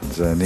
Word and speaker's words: Jah9: Well, Jah9 is my name on my birth paper. Jah9. So it's spelled out Janine.